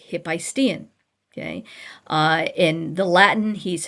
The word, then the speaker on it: Hephaestion: AE is usually an AI, like Hephaestion. Okay. In the Latin, he's Hephaestion. Okay. The modern pronunciation, Hephaestion. Why do I say it weird, Hephaestion? Because that's where the accent was.